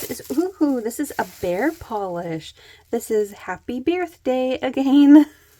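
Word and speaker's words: Paw Polish: So that was Bear Polish, and they spell it P-A-W, like a bear paw. Bear Polish, Happy Birthday again.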